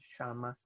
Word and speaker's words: llama: In Argentina, a lot of people pronounce it shama, and there are places where it's pronounced as pretty much an L plus a yeah. So llama, for example, como te llamas.